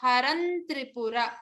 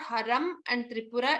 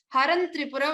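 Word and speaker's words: हरन्त्रिपुर: So we need to pronounce it as Haran Tripura, not Haram and Tripura. It becomes Haran Tripura when we pronounce continuously.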